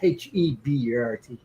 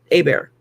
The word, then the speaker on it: Hebert: Yeah, Yeah, but no, it's HEBERT. There's no yeah. So that's R. Abear down. Yeah, most Ebai. places that would be pronounced Hebert. Down Yeah. here, it would be pronounced Abear.